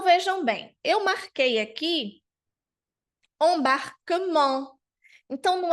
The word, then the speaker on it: embarquement: O som da nasal 1 é en, embarquement, embarquement, d'accord?